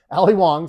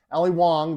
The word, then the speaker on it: Wong: Ali Wong. Sorry, not Ali Young. Ali Wong.